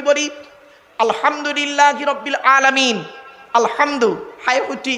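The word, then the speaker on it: الحمد لله: আলহামদুলিল্লাহি রাব্বিল আলামিন। আলহামদু, হাই উঠি, হাই হাব্বাজ নয়। আলহামদুলিল্লাহি রাব্বিল আলামিন। আলহামদুলিল্লাহ, গলার ভেতর থেকে হে এটা উচ্চারণ করবেন দয়া করে।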